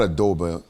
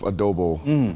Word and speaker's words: adobo: concert what's uh it's like how do I pronounce it is it not Adobe is it a double yes it's a double perfect I was addicted to beef adobo for a while and I had to I